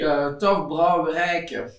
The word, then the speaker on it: Tof Brouwerijke: Again, I'm not Flemish, but it should be Tof Brouwerijke.